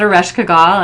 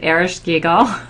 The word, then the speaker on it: Ereshkigal: And so just to say, because Tammy pronounces it Ereshkigal and I pronounce it Ereshkigal, there are at least two different ways to pronounce it, and there may be others. In fact, we don't really know how the Sumerians pronounced this name, and I've heard scholars that work with this cycle pronounce it both ways. So either way is correct.